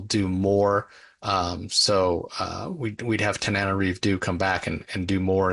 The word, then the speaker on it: Tananarive Due: Tananarive Due, I believe is how you say her name.